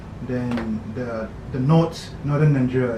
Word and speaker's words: Niger: There's another called Niger. It's spelled like Niger, some people say it's Niger, but it's not. It was called Niger.